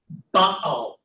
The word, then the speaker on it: Baal: So because we have that little arrow, that little accent mark, और हमारे पास क्योंकि ये जो है एक्सेंट मार्क है इसको कहते हैं. this is pronounced Baal. इसको हम पढ़ेंगे बआल. Two sounds, the vowels are the same.